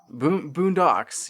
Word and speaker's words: Boondox: Boondocks. Boondocks. Yes. That you you have the the emphasis on the correct syllable.